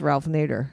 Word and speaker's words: Ralph Nader: No, I'm saying it's Ralph Nader.